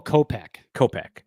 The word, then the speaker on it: Kopech: Tommy Edman was the other one, and then they got how do you pronounce the reliever's name? Is it Kopech? It's Michael Kopech.